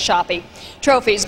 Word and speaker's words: Shoppy Trophies: few of them succeed shoppy trophies. I want to say shoppy trophies. It rhymes. It's very melodic that way, but their name isn't shoppy, it's shoppy trophies, both in dedication and quality of service.